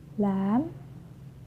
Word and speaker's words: lamb: For the example, climb, crumb, lamb, thumb, jam, plumber. Climb, crumb, lamb, thumb, jam, plumber. So I'm not pronouncing the B, I'm just pronouncing the M consonant sound.